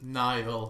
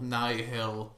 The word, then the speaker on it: Nihil: But then again, that same person pronounces Nile, Nihil, and also Nile interchangeably.